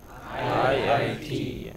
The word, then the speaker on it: IIT: You know, this is how abbreviations go. Stress on the last letter. You are studying at IIT. Okay. Where are you studying? IIT.